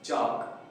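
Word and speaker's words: chalk: जाता है जैसे तो इसे हम के के बाद एल तो एल नहीं पढ़ेंगे तो हम इसे पढ़ेंगे चाप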